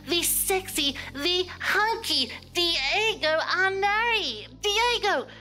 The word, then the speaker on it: Arnary: sexy the hunky Diego Anar Diego how a Vu hello did I pronounce your last name right you pronounce it perfect scor scor D oh my